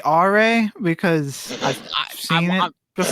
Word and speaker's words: Are: Yeah, because General R, his name is spelled Are, like the word R, like the English word R.